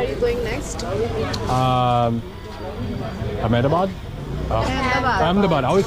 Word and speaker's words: Ahmedabad: Ahmedabad. I always pronounce it wrong, sorry.